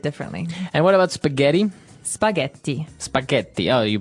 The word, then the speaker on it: spaghetti: might hear it differently and what about spaghetti spaghetti spaghetti oh you pronounce the double tea as well that's right